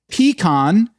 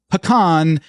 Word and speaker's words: pecan: We had pee-con, puh-con, and pee-can. Three different types of pronunciations, and low and behold, pee-can had the most in this episode.